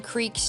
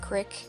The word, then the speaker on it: creek: ventures down to some creeks near my house. And I pronounce it creek, not crick, as I think everyone should, but you know, it's whatever.